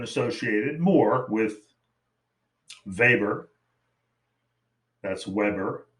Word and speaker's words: Weber: side is often associated more with weber that's weber pronounced weber vaber then marks uh and weber did focus a